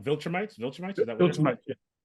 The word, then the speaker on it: Viltrumite: introduce most of the big bad of the Vulturemites. Sorry, what I always pronounce it wrong. Viltrumites?